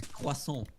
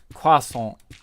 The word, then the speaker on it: croissant: how you pronounce croissant.